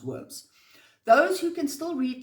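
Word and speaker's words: wyrms: The very stones weep blood, and there are sightings of gigantic worms, but this is spelled worms here spelled W Y RMS, but I presume it's pronounced worms.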